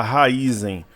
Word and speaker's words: Raízen: 4 aqui na tela Alguns falam Raízen raiz em Raízen a gente ouve a pronúncia diversas formas uma pessoa que trabalha na área me falou que o certo é falar Raízen já um outro profissional